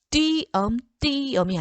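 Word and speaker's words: 띄엄: 있을 때 그 음절의 의는 이로 발음한다. 자, 그러면 자, 닐리리가 아니에요. 닐리리. 자, 의에 니은이라는 첫소리를 가지고 있죠. 이럴 때는 이로 발음해야 돼요. 닐리리. 그리고 무니가 아니고 무니. 그 다음에 띠엄이 아니고 띠엄.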